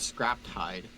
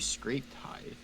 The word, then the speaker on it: scraped: Oh, I noticed on one of your streams when you were making the hide, you were calling it scrapped hide. It's actually scraped hide.